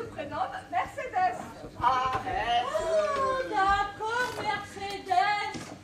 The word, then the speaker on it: Mercedes: Mercedes ah oh d'accord merceddes je savais pas qu'il fallait prononcer le S euh d'ailleurs euh il